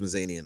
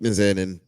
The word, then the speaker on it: Mizanin: don't know realize yeah I thought it was mazzanian okay I didn't want to say it wrong it's closer yeah m-i-c-a-n-i-m all right Mike mizanin love you bro flowers